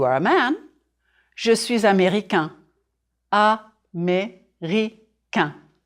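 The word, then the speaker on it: américain: a man chooses America ah me Rica four syllables America drop your jaw on the final nasal sound if you are woman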